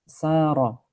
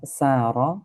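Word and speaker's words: سَارَ: Antara sin dengan shad tempat keluarnya sama. Yang membedakan hanyalah shad itu tebal sehingga suaranya menjadi sha. Mungkin sebagian orang yang ee tidak terbiasa mungkin dia akan membaca sa misalnya. Sa itu enggak benar ya, bukan sa tapi sh bedakan antara saro dengan soro ya.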